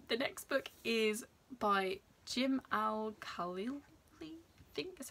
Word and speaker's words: Jim Al-Khalili: And the next book is by Jim Al-Khalili, I think is how you say his name, and it is Paradox, the 9 Greatest Enigmas in Physics.